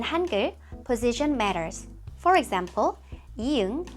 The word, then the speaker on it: 이응: For example, 이응 has no sound at the beginning of a syllable, but as 받침 at the bottom, it sounds like 응, like ng in English.